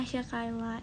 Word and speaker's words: Hasyakyla: Oh, dibacanya Hasya Kayla. Iya, nyokap gue bilang gitu dari 18 tahun lalu. Cuman dari SD guru-guru tuh kebanyakan manggilnya Hasya nih.